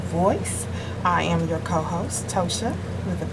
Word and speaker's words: Ptosha: But he didn't say Ptosha with a P, Davis.